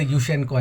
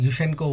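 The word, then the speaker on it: Yushchenko: thrown out and then victor yusenko i'm sorry i got the name wrong yushenko was thrown out through the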